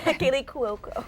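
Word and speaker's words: Kaley Cuoco: I'm glad you said her name because I can't pronounce it. Yeah, Kaylee Cuoco.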